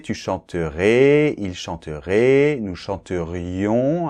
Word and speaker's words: chanterions: chanterais il chanterait nous chanterions attention doit bien entendre le i là chanterion vous chanteriez il